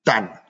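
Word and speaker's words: tany: Mais chose exceptionnelle, c'est que la terre de Madagascar, Tan, comme ça se dit, ça s'écrit tannin, ça se prononce tan, confère le terroir, on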